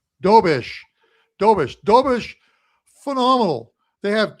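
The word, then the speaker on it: Dobeš: What How do we pronounce his last name again, Andrew? Dobish. Dobish.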